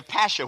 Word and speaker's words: pasha: I'm going to be a pasha with the accent on the pash.